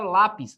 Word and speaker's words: lápis: Outro exemplo, a palavra lápis. Lápis. Por que que eu acento a palavra lápis? Primeiro porque ela é uma paroxítona. Lá a sílaba tônica recai sobre a penúltima e ela termina em is, ó.